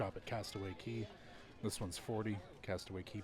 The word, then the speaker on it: Castaway Cay: this one's confusing because it is pronounced Castaway key but this is a